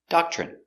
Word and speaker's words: doctrine: are a Doctrine pronunciation Doctrine d d a DA doc CH doc CH remember when you have TR together it makes the chicken sound CH so again doc CH